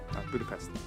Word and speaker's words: Budapest: A Natasha fala com o Mason sobre Budapeste, e ele utiliza a pronúncia americana, mas ela corrige ele usando a pronúncia húngara, a pronúncia correta, né? Budapest? Yeah, Budapest.